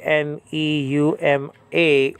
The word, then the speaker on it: pneuma: 50s and so on they used to not pronounce the P they used to just say Numa and just like they